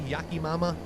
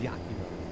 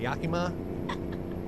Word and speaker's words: Yakima: Did I say it right that time, Maddie? Yakim Mama Yakima. I didn't like Chucky either. I got rid of all my porcelain dolls thanks to Chucky. I think it was Yakima.